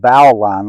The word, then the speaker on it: bowline: Some people say bowline. I've heard bowline. It's pronounced, spelled bowline, like a nautical knot.